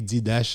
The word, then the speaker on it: Didache: qui est dédié Didache, il écrit Didache, il prononce Didache, qui parlait de vie apôtre.